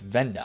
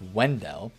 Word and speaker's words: Wendell: guy like vendel wendell i don't think it's venda i think it's wendell that's how you say his name the left